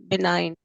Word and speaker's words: benign: Yes, benign. Benign. Yeah, G is silent.